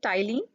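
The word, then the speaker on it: ptyalin: called Kylene mi Liz this P is silent here tiling mi Liz or you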